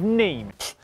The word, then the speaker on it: Nîmes: The Vuelta España kicked off on Saturday with a team time trial around Nîmes in France, or Nîmes, as I've been told it's pronounced in the comments section.